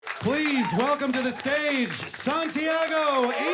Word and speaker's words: Santiago: Texas in the 90s nobody could say my name right like I would just be like hi I'm Santiago and they'd be like San I was like sure